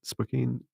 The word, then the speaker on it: Spokane: Um, you're in Spokane. Is that how you pronounce it? Spokane, yeah.